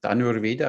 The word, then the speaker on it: Dhanurveda: And when you see the history in India, with Dhanur Veda, how do you pronounce it properly? The art of archery. There's this book Dhanur Veda. it is Dhanurveda.